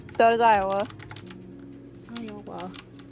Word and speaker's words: Iowa: was like Oh no I got two syllables no it has three oh it does you're right oh Ohio yeah right so it is Iowa Iowa H it's linguistically l